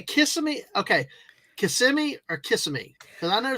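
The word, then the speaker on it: Kissimmee: will call it kissm but it is properly pronounced KMI that's what it's WR right and just be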